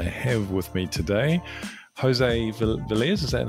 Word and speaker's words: Velez: Today, we're talking about reliability insights, and I have with me today José Velez. Is that how you pronounce the surname?